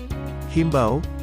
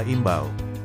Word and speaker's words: imbau: dalam pengucapan maupun penulisannya yang pertama ada himbau seharusnya yang benar adalah imbau yang kedua sekedar seharusnya